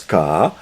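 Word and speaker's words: 卡: xia qui fait que, et cette fois ça se prononce ka, et ça veut dire bloqué, coincé, c'est-à-dire que c'est le symptôme, ou l'inhibition, ou l'angoisse.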